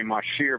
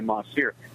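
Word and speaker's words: mahseer: now mossy Ronettes veld NHS ier sometimes people mispronounce it and say ma shear but it's really ma steer those are super Nets so they're members of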